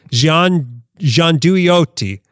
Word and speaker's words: gianduiotti: The one thing that's actually should be pronounced properly in Italian. I can't do it in a fake Italian accent. Gianduiotti.